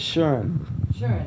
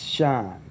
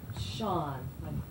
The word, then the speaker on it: Schon: know i'm actually german my last name is german the other half's italian but the it really means in germany it's sharon right but over here it's sean sean s-h-a-w-n right it's spelled s-c-h-o-n tape rolling rolling okay